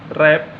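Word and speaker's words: wrap: इसमें देखिए आपका डब्लू साइलेंट है, रैत, रैप, रेक।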